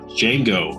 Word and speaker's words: Django: Here we got Django Unchained. The D is silent.